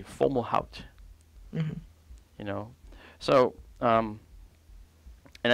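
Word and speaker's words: Fomalhaut: phone call and and many people spell it you know fo mah alts you think it's formal halt but it's actually formal out mm-hmm you know so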